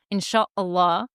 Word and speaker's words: inshallah: years in college, and I said, inshallah, to Charly on the phone, because that's how you say it.